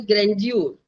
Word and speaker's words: grandeur: जैसे आज का जो जन्मभूमि का प्रोग्राम है वो भव्य है, उसको बोलते हैं grandeur. Grandeur, and his pronunciation is grandeur.